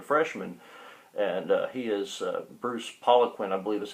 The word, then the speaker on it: Poliquin: It's got a Republican congressman now who was just elected in 2014, so he's a freshman, and he is Bruce Poliquin, I believe is how they pronounce his last name, but he is trying to fight for a re-election in that race.